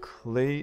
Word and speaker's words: Klei: development company i believe it's called clay entertainment not spelled like the stuff you made pots out of but k-l-e-i entertainment i think so so